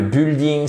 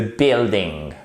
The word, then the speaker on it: building: y a un souci c'est pas le building c'est le building ok sors si on utilise un mot en anglais on essaye au moins de le prononcer correctement elles ont construit une